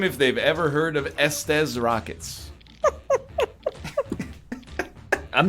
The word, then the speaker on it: Estes: Like suck these I don't pronounce rockets. it that way. It's Estes.